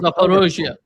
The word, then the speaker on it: Zaporizhzhia: And one of the crazy things that the Wall Street Journal said is they're going to have the Zaporizhzhia, if that's how you pronounce it, the nuclear Zaporozhye.